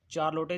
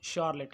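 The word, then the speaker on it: Charlotte: दूसरी तरफ doctor Stanhope की बड़ी और समझदार बेटी, जिसका मैं पहले चार्लोटे जिसको कहा है, इसकी सही जो प्रोनाउंसिएशन है वो शार्लेट है, तो इसके लिए सॉरी,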